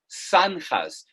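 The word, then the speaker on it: zanjas: missions and those uh those waterways were called sanjas zs are pronounced in spanish like an s those are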